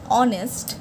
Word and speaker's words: honest: the stationery shop next identify and write the silent letter in each word honest the silent word is H sine G knife K come